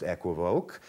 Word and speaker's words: equivoque: The word in French is pronounced équivoque, so equivoque is obviously wrong, but since it is